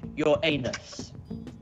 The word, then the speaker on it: Uranus: Ethan, it's pronounced your anus.